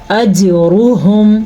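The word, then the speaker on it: أجرهم: فلہم اجرہم عند ربہم، اجرہم، جیم پہ کلکلا ہو رہا ہے، را کو ہم پر پڑھیں گے، را پہ پیش کی وجہ سے. ہا کے تلفظ کا خاص خیال رکھنا ہے، یہ ہا سینے سے نکلتا ہے. اگر اس کو ہم اجرہم پڑھیں گے، یہ تو ہم نے حلق کے درمیان سے نکالا، جبکہ یہ ہے ہا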